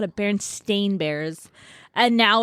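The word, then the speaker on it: Berenstain: I used to watch barenstein Bears all the time on TV and I even say barenstein Bears well apparently spelled with an A and not an e so it's Baron stain bears oh I never watched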